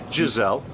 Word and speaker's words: Gisele: a what There's two Gisele Bündchen. Gisele. No no like gazelle like the the animal.